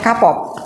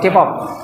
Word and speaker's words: K-pop: dengan eh apa namanya kapop I bacanya pripun kapop ya atau Kpop Kpop ya harus Fih bacanya Harus fasih k-pop ya menapa mereka senang dengan